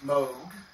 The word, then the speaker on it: Moog: another uh it's pronounced moog even though it's spelled m-o-o-g it's pronounced mode and the way to remember it is the rogue is in vogue who pronounces it uh